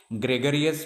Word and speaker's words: gregarious: Her reticent behavior, gregarious behavior, apathetic behavior, and lethargic behavior.